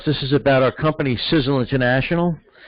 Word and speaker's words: Sisel: is about our company sizzle International pronounced like sizzle as in a sizzling hot steak on the barbie sizzle actually spells their